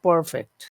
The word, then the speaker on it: perfect: Yes, the That, perfect. that's right. So So it, yeah, if it's an yeah, adjective, then it's on the first syllable.